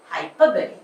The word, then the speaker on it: hyperbole: mythical speeds hyperbole see this dispelling hyperbole but the pronunciation is hyperbole the most this hyperbole